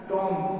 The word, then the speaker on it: tomb: उसी तरह से टॉम, TOMB, तो M के बाद B जब आएगा तो B साइलेंट होगा, इसका सही उच्चारण टॉम होगा।